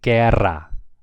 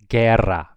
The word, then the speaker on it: guerra: If it's a GUE, the U is silent. So this would be guerra, guerra.